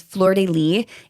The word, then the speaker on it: Flordelis: So, the name of the docu-series is Flordelis: A Family Crime. colon A Family Crime. And then her name is spelled F L O R D E L I S. But apparently the S is silent.